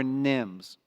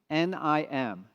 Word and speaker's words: NIM: Nvidia inference microservices or Nims a very short word easy to pronounce nim nim what is a Nim